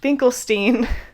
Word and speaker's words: Finkelstein: by Norman finklestein which I did confirm his last name is pronounced finklestein yeah those are my